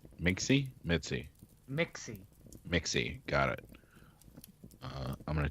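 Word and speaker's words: Mixxy: our can attract okay Ben harp and her Mitzi Mitzi Mitzi Mixy Mixy got it I'm gonna change that on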